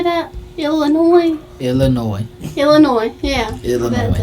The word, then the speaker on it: Illinois: Illinois. The S is silent, baby.